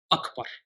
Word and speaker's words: Akbar: The first letter is what Arabs call Hamza al-Qata', which means the Hamza must be pronounced clearly. Allahu Akbar.